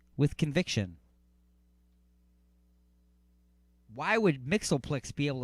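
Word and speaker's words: WTHCNVCTN: t h c n v c t n pronounced with conviction why would mixelplix be able to say this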